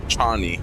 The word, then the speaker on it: Chani: So Chan Chani or Chani, the proper pronunciation is Chani, but I guess they turned it into Shaie because it's relatable somehow.